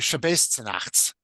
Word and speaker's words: Shabbos zu Nachts: Noch in selben Shabbos zu Nacht haben sich, or Shabbos zu Nachts, is how it's usually pronounced, that same Saturday evening,